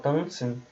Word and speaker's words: tanzen: Então, tipo, um brasileiro que fala tanzen, que nasaliza a vogal, se ele é compreendido por um alemão falando tanzen, então a missão está feita.